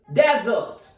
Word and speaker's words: desert: it has different pronunciation as a noun its pronunciation is Desert the stress is on first syllable the comma like sign